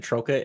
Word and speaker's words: Troka: believe how he pronounce his last name is troa anyway if it's not he he'll correct me so welcome to the show Hey Kevin thanks for having me and you nailed my last name man troa that is perfect okay well there a t